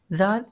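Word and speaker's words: ذال: Same like with sa, zal I have to pronounce with a soft touch, otherwise it can make a whistle sound and mix it with the z.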